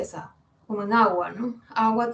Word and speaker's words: agua: Agua tiene 2 sílabas, agua, y el acento está justo en la primera A.